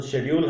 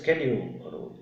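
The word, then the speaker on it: schedule: ने अपनी अलग अलग, कोई ब्रिटिश फॉलो करता है ब्रिटेन की लैंग्वेज, तो शेड्यूल है। अमेरिकनाइज्ड इंग्लिश बोलोगे तो इट्स शेड्यूल। शेड्यूल पे रहो, कोई दिक्कत नहीं है। वर्ड्स की प्रोनाउंसिएशन दोनों ही ठीक है, एक अमेरिकन है और एक ब्रिटेन की है।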